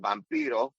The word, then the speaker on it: Vampiro: And then the other thing was when Vampiro came out, or as the correct way to say it, Vampiro, so when Vampiro came